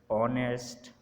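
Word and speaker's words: honest: एच इज़ not pronounced at the beginning of many words. शुरू में बहुत सारे जो अल्फाज हैं जिनके शुरू में एच आता है उनमें एच प्रोनाउंस नहीं होता।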